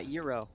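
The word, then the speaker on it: gyros: cherry on top do you know how to pronounce um the greek food spelled g-y-r-o-s yeah euro thank you all right good what do you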